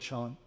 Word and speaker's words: Chan: and uh Chand Buddhism Chand is the original Chinese word for Zen um but it when I moved to Japan the Japanese pronounced that uh ideogram Zen so I'll use the word Sean um and the whole